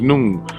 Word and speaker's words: Noone: That is to say, correct information known as Noone. Noone pronounced Noon is the science and philosophy of NoopooH, pronounced NoopooH.